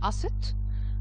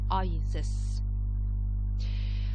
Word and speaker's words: Aset: So Isis was called in the ancient Egyptian language as Aset and the Greeks pronounced this word as Isis.